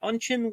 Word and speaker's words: Unchen: What about unin? Well, this is pretty clearly by analogy to sunken. So I'll keep it hard.